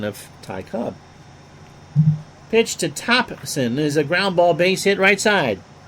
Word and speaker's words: Thompson: Or Thompson, no, don't pronounce the P.